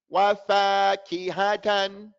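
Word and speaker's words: وَفَاكِهَةً: Wafakihatan. Have that key, ha, tan. They're the same length.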